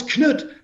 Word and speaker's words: Knut: Because in Danish, it's spelled with a K, Knud, and it's just pronounced Knud. Ah. So, but it's Knut in this.